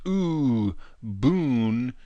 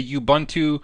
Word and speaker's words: Ubuntu: the history so a bun - which is pronounced ooh boon - it's actually an African word and it